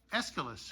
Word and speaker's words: Aeschylus: How do you pronounce that, Mr. Phil? Aeschylus.